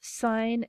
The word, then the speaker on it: sin: functions sine and cosine they're abbreviated s-i-n and c-o-s but they are pronounced sine and cosine and sine is the